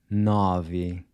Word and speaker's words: nove: Nove. Once again, this is open. Nove.